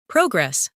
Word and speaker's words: progress: Progress, noun, versus progress, verb.